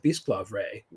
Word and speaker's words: Bisclavret: of the Lay of Bisclavre, which I apologize. It's Bisclavret, I believe is how it's pronounced. It's an old Breton word, which I believe technically